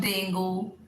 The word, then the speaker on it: dengue: एक और word, DEN, GUE, DEN, GUE is not dengue in English, it is dengue, dengue।